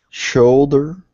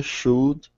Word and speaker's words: should: Shoulder, should, sailor, slow. Very good. Well done. Second time, better. Which is the word with the silent letter? Should? Very good. Well done, Jose. So we don't say should, right?